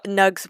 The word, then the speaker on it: nug: how we met um nugs will be explained. They will be the nug is spelled n u g like mug but with an n that it's and they are very cute.